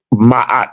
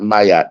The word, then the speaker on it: Ma'at: Ma'at, not Mayat.